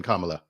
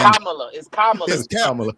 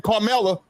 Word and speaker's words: Kamala: It's Kamala. Kamala. Kamala. Okay. No, it's Kamala. Dude, you know Otis can't pronounce words. Go ahead, Otis. Good Lord. It's better than y'all saying Carmela, like you were saying earlier.